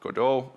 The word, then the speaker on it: Godot: most promising one and that's called godo uh some may call it kot some may call it codo uh all all pronunciations are right uh but I decided